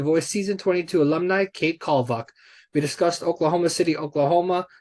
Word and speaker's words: Kalvach: it's Kalvach.